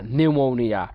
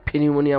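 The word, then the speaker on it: pneumonia: দেখেন Ferran, Ferran, ঠিক আছে, বা যেমন নিউ মৌনিয়া, নিউমোনিয়া, ফিনিউমোনিয়া, দেখেন উচ্চারণ করতে কষ্ট হয়, ফিনিউমোনিয়া। সো আমরা ফিনিউমোনিয়া না বলে বলবো নিউমোনিয়া। বা যেমন নক, নক, সাফন, বম, আলাইন, নিউমাটিক, বা বলতে পারি নাকহল, ময়সন, থাম, ন্যাশ।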